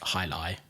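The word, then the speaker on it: jai alai: J A I is the high and there's ali so a l a i um but it's it's just pronounced hilai hali.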